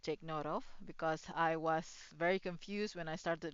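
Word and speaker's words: は: note of because I was very confused when I started learning Japanese and like they use ha, but it is pronounced as wa.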